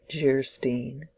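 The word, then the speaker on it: Geierstein: offering it for sale Anne of Geyer Stein pronounced jerstein or the maiden of the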